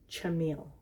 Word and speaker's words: Chamyl: I have it right now for once it's Jameel and it is important so this prompt chapter